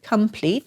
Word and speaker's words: complete: the schwa so there's there's pleat complete but we usually say complete so that o has a little bit of a lazy sounding schwa sound so before transitioning to